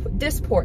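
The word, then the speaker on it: Dysport: went to um a consultation for disport dis disport that's how you say it disport which is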